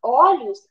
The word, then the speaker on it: olhos: gente não fala olhos quando a gente fala olhos a vogal o ela é aberta por causa do som